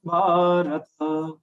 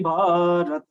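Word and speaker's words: भारत: Yada yada hi dharmasya glanirбhavati bharat. Bharat. Bha is a long sound. After that, ra and short sound, but full, not halag. Bharat nahi.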